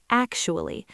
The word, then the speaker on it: actually: of this phrase because the word actually has a very specific stress pattern. It has three syllables actu. But all the power, all the stress goes on that very first syllable. Actually, listen to how I stretch that first sound.